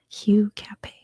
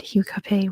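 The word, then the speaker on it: Hugh Capet: I hope next is Hugh Cafe Q h-u-g-h Cafe c-a-p-e-t Hue Cafe it's kind of like his um english-ized version it's not pronounced much different in the actual language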